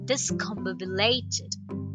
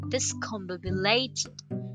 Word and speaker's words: discombobulated: of the day is discombobulated how do you pronounce this word discombobulated discombobulated the stress is on combated okay and the